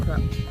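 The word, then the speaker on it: ครับ: It's K-R-A-P. Pronounce that. Like krup. Krup?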